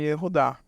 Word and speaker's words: Yehudá: que é o nome Yehudá. Nessa palavra, o Vav possui o som primário de consoante vocálica, que é U. Por quê? Porque está no final, a primeira sílaba do nome Yehudá.